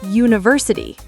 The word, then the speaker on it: university: Okay, how do you say the word university? University. University. Right, it starts with a U sound, which is actually a consonant sound. It's like saying you.